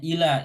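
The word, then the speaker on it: إلى: Huruf hamzah berharokat kasroh, huruf lam berharokat fathah, kemudian alif atau tidak bertitik ya. Dibacanya ila, ini adalah huruf jar ya.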